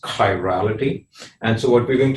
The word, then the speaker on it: chirality: chirality okay so that's how this word is pronounced chirality and so what we're going to talk about